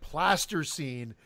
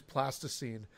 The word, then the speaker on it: plasticine: I kept calling it plaster scene and Eric did a nun c8 and I think he's trying to get back is going I was I was pronouncing it incorrectly because it is plasticine and you still didn't